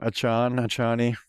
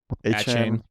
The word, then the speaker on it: Achane: I can never pronounce his name. Achani. Achane.